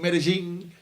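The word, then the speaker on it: Medellín: is what he was they pronounced it Medellin but I just say Medellin cosmia Jamaica now he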